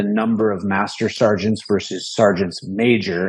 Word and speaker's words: sergeants major: And you have to say sergeants major. Everybody's been making that mistake these last few weeks. But that's how you say it. Right. It's a sergeant major. Sergeants major, yeah. Like attorneys general, right?